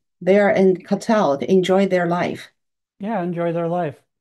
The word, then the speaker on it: Qatar: country of Qatar, spelled like Qatar, Qatar, Mm-hmm. but they pronounce it Qatar, It's a Qatar. Qatar is the right pronunciation. That Qatar, all right. Okay, like a let's. meat cutter in a butcher shop. Yeah, it sounds like that.